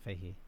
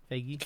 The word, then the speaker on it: Feige: It's not Fahey. Feige. Feige.